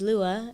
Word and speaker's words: Lua: then i took the word moon which is lua and i was like oh that sounds beautiful